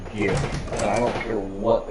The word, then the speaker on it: GIF: It is pronounced GIF, and I don't care what the guy says.